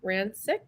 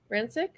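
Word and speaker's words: Rakić: Rancic. Rakic.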